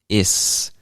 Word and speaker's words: it's: pronounce this word as is so it's almost like the t disappears sometimes so just like i